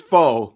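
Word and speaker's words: phở: I think it's pho, but it could, maybe the P is silent. No, it's pho.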